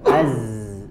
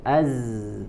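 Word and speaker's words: ز: ya ini dikatakan diucapkan maka di huruf Zai bedakan dengan angin yang keluar misalkan Az Az ya maka dia hanya keluar atau mengalir dari suaranya saja Az tidak mengeluarkan angin ataupun nafas ya sebaliknya di huruf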